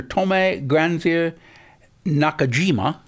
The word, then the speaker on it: Tomy Granzier-Nakajima: Tomy Granzier-Nakajima. Yep, that's great. Did I pronounce that right?